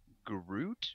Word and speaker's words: Groot: said it was a Groot or something like that like G or like almost like fruit but gr instead of f Ruit inches uy t